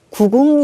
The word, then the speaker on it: 구궁: 기 덕과 같은 군 편 의 타법인 데요 9 붕 이라고 발음하고 마찬가지로 한 번에 힘을 주어서 두어 소리를